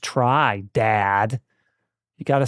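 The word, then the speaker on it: Tri: Um, also games that I think deserve a perfect score, Monster Hunter Try on the Nintendo Wii, uh, aka Monster Hunter 3, but it's pronounced try.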